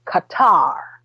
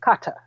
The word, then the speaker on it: Qatar: likewise work for Qatar all those people tend to pronounce it Qatar but it's Qatar he said that Qatar